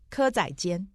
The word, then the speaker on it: 蚵仔煎: 蚵仔煎。